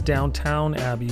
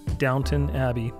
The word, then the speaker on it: Downton Abbey: Now it looks like it says Downtown Abbey, but it is pronounced Downton Abbey.